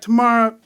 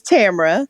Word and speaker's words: Tamra: Did I pronounce that right, Tamara? It's Tamra.